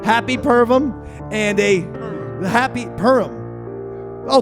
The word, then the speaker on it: Purim: There's no V. Okay, well, you were saying it with a V. Don't blame me and Roy. He's fucking giving me the fucking lip now. No! You were pronouncing it Pervum.